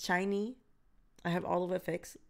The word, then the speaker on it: SHINee: albums from that's how you say it it's shiny i have olive effects not all of the